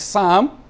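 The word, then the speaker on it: psalm: the letter P in some words is not pronounced like you have a world like Sam the letter P starts the word Sam but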